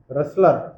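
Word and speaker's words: wrestler: आर ए सी अबकुक्रेस रेसलर डब्ल्यू आर ई एस टी एल इ आर रेसलर रेसलर रेसलर डब्ल्यू आर इ एस टी एल इ आर डब्ल्यू आर एस टी एल आर डब्लू silent है आते गलती हो गई।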